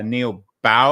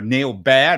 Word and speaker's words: Neal Baer: many new technologies is our guest today uh Neil bow uh or Neil bear Not Bow it sounds like bow b a r but pronounced be is a trained doctor at Harvard